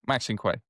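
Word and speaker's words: Maxinquaye: So that would make it Max Enquay. Max Enquay. Yeah. Maxin Quay. Maxin Quay. Yeah. Cool. We have affirmed the pronunciation of Maxin Quay.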